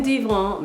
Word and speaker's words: divan: on top, which is how a broccoli chicken DIVAN is typically made.